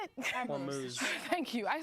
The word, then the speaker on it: Hormuz: So in regards to specifically the Strait of Vermouth, right? How do you say it? Hormuz.